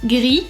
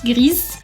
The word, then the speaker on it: gris: And we also have silent consonants with S, T, D, P, X, and Z. So if you have words ending with those consonants, you're not going to pronounce it either. For example, gris and not grise, chat and not chat, grand